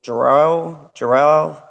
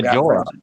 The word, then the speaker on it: Jorah: his name um that one dude juror dro jor-el I always say his name wrong with starts with a J he's like in love with Danny but you know Jorah yeah he he gets like just absolutely brutally